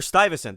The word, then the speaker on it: Stuyvesant: grew up with however i heard charles gehring who is the the know all and end all of the new netherland institute and he pronounces it probably in perfect 17th century dutch as something close to stificent or stiffest something like that so the last time